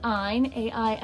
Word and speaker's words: Ein: and her name is Ein rhymes with mine and she is in